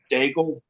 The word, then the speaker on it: D'aigle: it it's for just daigle yeah yeah the way we pronounce it is it rhymes with bagel yeah i remember some from